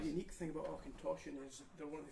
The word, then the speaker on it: Auchentoshan: That's Auchentoshan. Well, what's the crack with that one? So that's lovely. So this is a lowland whiskey. There's not many lowland distilleries. Right. The unique thing about Auchentoshan is they're one of the few distilleries in